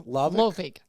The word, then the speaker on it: Lovig: Pronounce it for me again. Lovig. Lovig. Okay. Long O. Long O. Okay.